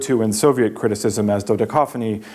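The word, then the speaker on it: dodecaphony: in Soviet criticism as dodeca phony because of its fortuitous rhyme with cacophony the rhyme works in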